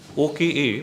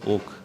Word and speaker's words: Oka: OKA, many pronounce him as Oka, but the pronunciation is Oak.